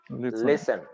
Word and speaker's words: listen: i tell you listen you hear how i pronounced it listen listen but there is a t there so